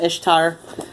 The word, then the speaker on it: Ishtar: recognize like we've got the other Ishtar which is not pronounced Easter for sake um and then we've